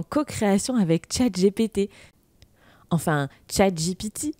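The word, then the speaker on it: ChatGPT: avec chat GPT enfin chat GPT comme dirait ma maman qui m'a suggéré de le prononcer à l'anglaise parce que c'était quand même plus jolie qu'à la française d'ailleurs si tu as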